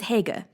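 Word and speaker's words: Haigha: happy his name is Hagar he pronounced it so as to rhyme with mayor I love my love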